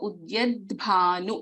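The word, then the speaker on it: उद्यद्भानु: So for example, here in Udyadbhanu, if we take the third letter, there is a da and there is a bha, Mahaprana, Alpa Prana da, Mahaprana bha, and a swara. So Udyadbhanu. So the also should be heard, bha also with the dirgha should be heard.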